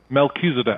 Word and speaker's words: Melchizedek: You know you said that uh you're in the order of a mechdc. Is that what how do you say that? Melkisedc.